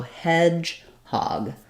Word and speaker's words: hedgehog: on the first syllable so Hedgehog so it's sounds like hedge um primary stress on hedge secondary stress on hog I would write that